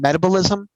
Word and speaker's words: Metabolism: I think it's called metabalism. Um, spelt like metabolism, but not pronounced that way.